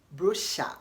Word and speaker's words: brochure: the three ways again b-r-o-c-h-u-r-e is pronounced as Brusha in British English and as brochure in American English okay the second word